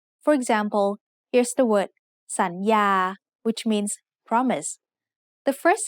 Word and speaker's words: สัญญา: So the first syllable makes the sound สัน with a rising tone. The second syllable has the initial consonant Yo Ying and the vowel สระอา so it makes the sound ยา with a mid-tone. Let's write the whole word together.